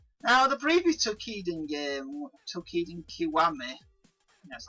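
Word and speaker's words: Toukiden Kiwami: Now, the previous Tokiden game, Tokiden Kiwami, that's how you pronounce it, I literally spent over 100 hours and something like 60 hours to complete at least.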